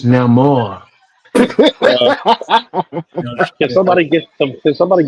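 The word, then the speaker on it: Namor: The first character to fly was Neymar. The first one The first character to fly was Neymar.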